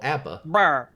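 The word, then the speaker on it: A.B.A: uh let gag uh the way it's spelled is a period b period a that is how the spell abba abba yep and uh it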